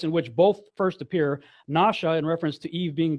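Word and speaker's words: נשא: When it's over the right side, it's pronounced more like nasha. It's pronounced with a shh sound. When the dot is over the left, it's with a s sound.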